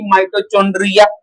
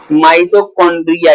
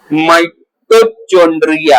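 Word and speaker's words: mitochondria: माइटोकंड्रिया। Spelling में सीएच आता है ना तो चंड्रिया लिख देते हैं हिंदी मीडियम वाले। माइटोचकंड्रिया। अब वो चेक करने वाला बोलता है कि ये चुंड्रिया कहां से आ गया?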